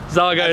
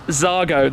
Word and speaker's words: Xago: every single way and i even used to pronounce it incorrectly it's zago it's zagar it's sago zargo not jargon like zigzag saga i must apologize then i've i've only heard it being said wrong it's zargo the zargo svj roadster they're all roadsters all